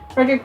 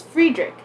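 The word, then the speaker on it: Fredrik: um yeah uh oh i'm saying it wrong because he's swedish it's friedrich yeah friedrich beckman i absolutely love it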